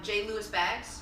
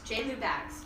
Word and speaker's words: Jlewbags: So again, it's J. Lewis Bags. J. Lou Bags.